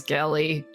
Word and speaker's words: Gellie: My name is Gellie with a hard G.